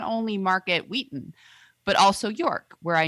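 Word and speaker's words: Weighton: I also wanted to give a shout out to my little childhood hometown market of Market Wheaton, pronounced Wheaton.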